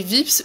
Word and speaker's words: Vips: Nous sommes allés manger chez Vips ou VIPs, vous prononcez comme vous voulez, qui est une chaîne